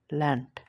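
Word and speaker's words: Land: এর মতন উচ্চারণ হবে কিন্তু শেষে বসলে এই ডে টা ট এর মতন উচ্চারণ হবে যেমন দেখেন প্রথমে ডেব হচ্ছে এজন্য ডাঙ্কেন এবং শেষে দেব হচ্ছে এজন্য ল্যান্ড এখন চলেন ই টা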